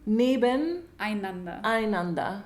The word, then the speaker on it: Nebeneinander: Wait, how do you pronounce that? Nebeneinander.